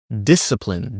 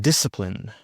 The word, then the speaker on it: discipline: Discipline. Discipline.